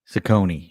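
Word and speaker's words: Cecconi: Is it Sakonei? Sakonei. Yeah, Sakonei.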